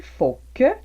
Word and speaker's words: il faut que: avec le « il faut que » qui, lui, est prononcé « faut que ». Donc, fac et faut que.